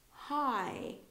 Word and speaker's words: high: No, hi, when something is high, above, okay? So we don't really pronounce the G and H together here.